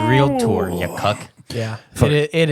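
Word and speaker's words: Realtor: re what the heck is it a three syllable word e it's real tour you cuck yeah it it is real tour what did I say you do you say caramel you said real Lor it's real Tor athlete athlete I speak uh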